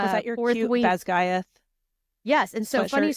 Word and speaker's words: Basgiath: And because I was like, Basky, and they're no. But, so how do you say it again? Basgiath.